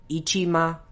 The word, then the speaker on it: Ichima: it's just ichima keni ichima remember the ma at the end isn't ma in that Japanese doesn't have varying levels of stress the kanji in his